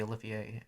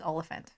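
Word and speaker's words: Olyphant: oliphant does cob vamp yeah i love timothy olivier and stop it we have a running disagreement because i have grown up my entire life calling him timothy olivier and i pronounce it correctly as oliphant um and i refuse to take correction you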